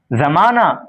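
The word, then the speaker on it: زمانہ: क्योंकि हा लिखा जाता है लेकिन पढ़ा नहीं जाता। छुप जाता है पढ़े पढ़ते वक्त। इसलिए इसको हाय मुख्तफी कहते हैं। जो हा तलफुज़ में नहीं आती है बल्कि माकबल की हरकत को जाहिर करती है। जैसे परवाना जमाना वगैरह।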